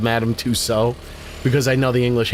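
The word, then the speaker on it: Madame Tussauds: And when you go to the wax museum, you're going to madam sods and instead of madam touso because I know the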